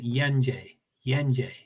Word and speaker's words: Yenje: Yeah, you're saying Yenje. Yes, you're saying it right.